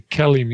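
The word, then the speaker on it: KELIM: questions absolutely the kellim the kellim is how we pronounce that Kellum right kellim yeah kellim is is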